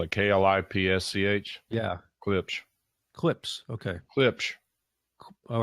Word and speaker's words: Klipsch: Klipsch? Spell it Klipsch. Yeah. Klipsch. Clips.